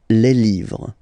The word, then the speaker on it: les livres: Okay, les, and then same rule, you just write livre, and then you put s at the end, but then you don't pronounce it. Les livres.